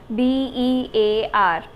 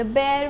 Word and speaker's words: bear: This word is known as bear. Bear. तो इसके लिए डिस्क्रिप्शन बॉक्स में मैंने एक वीडियो भी डाली है. उस वीडियो को आप ध्यान से सुनेंगे तो उसमें कुछ राइम है. उसकी प्रोनाउंसिएशन कुछ इस तरह से है, द बेयर went over the mountain, the बेयर went over the mountain. तो इस एनिमल को बियर नहीं बुलाते हैं. This is the wrong.